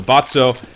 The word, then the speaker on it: Botso: Botso is the way it's supposed to be pronounced.